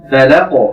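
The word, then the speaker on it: فلق: ফালাক, আমরা যখন শেষে থামবো কফের মধ্যে, যেহেতু কলকলা এর একটি সিফাত রয়েছে, এটি একটি শক্তিশালী সিফাত, এজন্য আমরা একটু প্রতিধ্বনি করব আওয়াজের মধ্যে। ফালাক, এভাবে একটু ধাক্কা দিব।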